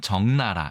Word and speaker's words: 적나라: 그래서 적라라 이렇게 안 하고 적나라라고 표현을 하고 발음은 정나라 이렇게 얘기를 하는 것이죠.